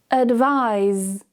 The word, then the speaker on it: advise: Notice when we talk about the noun, there's no vibration. Advice, advice. However, the verb has vibration. Advise, advise.